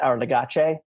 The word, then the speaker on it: Our Legacy: It's pronounced, first of all, it's pronounced Our Legace.